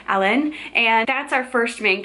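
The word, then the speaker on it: Alain: a i n but the audiobook narrator for this series pronounces it as almost like Alan but there's there's a little bit of an accent to it so Alan and that's our first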